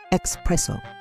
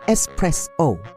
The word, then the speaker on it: espresso: Similarly, espresso is not espresso. There's no X in espresso. It's espresso.